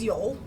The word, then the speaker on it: Joel: Spelled like Joel, but it's Yoel.